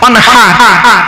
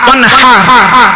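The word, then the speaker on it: وَانْحَرْ: ইন্না আতাইনাকাল কাউসার ফাসাল্লি লিরাব্বিকা ওয়ানহার, ফাসাল্লি লিরাব্বিকা ওয়ানহার, ওয়ানহার ওয়ানহার। এই গলার ভিতর থেকে হাইটা উচ্চারণ করবে, হাই হুকিং, হাই হাওয়াজবান, ফাসাল্লি লিরাব্বিকা ওয়ানহার।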